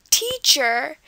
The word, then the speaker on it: teacher: In the word teacher, it's at the beginning again, just like with the word photograph. So it's going to be on the first syllable, teach.